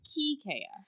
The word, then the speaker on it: Kiskeya: The only way I've ever thought to pronounce it, the only way I've ever heard it is with the S.